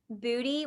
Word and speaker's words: Boody: A few more affordable options might be Pact, Everlane, Booty, which is spelled Boody, and Able.